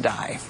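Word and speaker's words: Dai: actually Stan uh and his last name is spelled D AI which I'm only assuming is pronounced die okay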